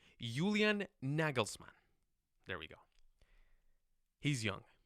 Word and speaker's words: Julian Nagelsmann: I'm going to try to get this pronunciation right. Julian Nagelsmann.